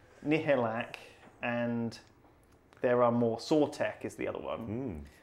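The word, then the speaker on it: Sautekh: one of the main Sortek leaders. Yeah, yeah. But it's spelled with like a K, like in it. It's kind of like tech.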